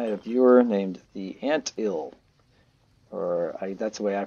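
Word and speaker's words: theantil: But anyway, I had a viewer named the Ant Ill, that's the way I pronounce it, T-H-E-A-N-T-I-L number 7.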